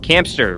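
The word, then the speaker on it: Camster: open this hampstein hamster campster rhymes with hamster okay guys we are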